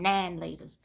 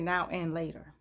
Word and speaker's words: Now and Later: in my pack and i still come nine laters and i think it's because i don't know why people never said now and later nobody ever pronounced it that way and i'm not going to disrespect the history of it by mispronouncing it in the colony now and later it was nine laters because maybe because we